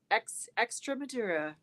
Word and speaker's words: Extremadura: See, Carrie gave me a thumbs up on the pronunciation. Extremadura.